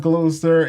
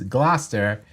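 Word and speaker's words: Gloucester: a page dedicated to how to pronounce gler it's not glower it's not glester it's not Glouchester it's glaster and or as a local say glaster so that was a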